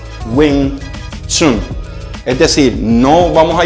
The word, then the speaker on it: Wing Chun: ok por lo tanto aunque esté escrito de esta manera la pronunciación como tal es wing chun es decir no vamos